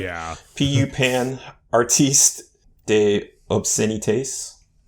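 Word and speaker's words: obscénités: PU Pan Artiste de Obscenites. Obscenite? Maybe. I don't think you pronounced the S in French.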